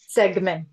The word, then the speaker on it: Stegmann: Stegman.